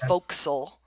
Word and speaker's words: forecastle: if you've ever seen the word Forecastle it's pronounced Folk Soul f-o-r-e-c-a-s-t-l-e folks I just know a herd uh